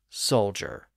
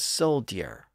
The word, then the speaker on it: soldier: So let's consider the word soldier. It was originally pronounced like it's spelled, as soldier, with that slight Y glide between D and R, dir.